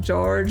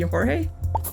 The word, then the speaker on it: Jorge: Actually, I may have been pronouncing it like George or George, but I think if we're in Spanish-speaking situation, that may be Jorge.